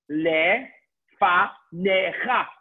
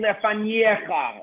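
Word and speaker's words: לפניך: What happens to the yud? The yud is silent. There's a very, very common, you have a silent yud. Okay? You don't start saying lefaniecha, like reading like a Russian. I'm kidding. You say lefanecha.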